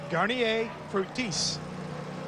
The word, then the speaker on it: Garnier Fructis: to see him talk about the green car and know how to pronounce it. Garnier Fructis.